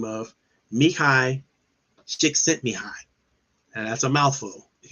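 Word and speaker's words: Mihaly Csikszentmihalyi: when a positive psychologist by the name of mikhai stick sent me high and that's a mouthful if you ever see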